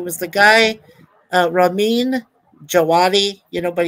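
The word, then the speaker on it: Djawadi: the guy uh Ramin jaadi you know but he spells his last name starting with the letter D which is silent and he did the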